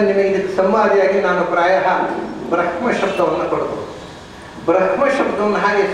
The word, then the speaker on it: ಬ್ರಹ್ಮ: ಅದನ್ನು ಹಾಗೆ ಬ್ರಹ್ಮ ಅನ್ನೋದು ಅದರ ಸರಿಯಾದ ಉಚ್ಚಾರ. ಆದರೆ ಅದನ್ನು ಸಾಮವೇದದಲ್ಲಿ ಹಾಡುವುದಕ್ಕೋಸ್ಕರ ಅದನ್ನು ಮುಂದೆ ಹಿಂದೆ ಮಾಡಿ ಹೇಳಿ. ಯಾಕಂದರೆ ಬ್ರಹ್ಮ ಅಂದರೆ ಕಟ್ಟಾಗೋದು, ಬ್ಲೆಂಡ್ ಆಗೋದಿಲ್ಲ ಸೌಂಡ್.